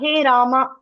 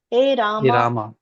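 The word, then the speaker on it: he Rāma: So, what is the correct pronunciation? No, we should not tell visarga. Hey Rama, that's all. Hey Rama. That's all. We should not tell the visarga.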